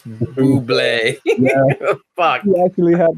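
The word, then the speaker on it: Bublé: I'm being corrected in the chat that it's not Boobel, it's Buble.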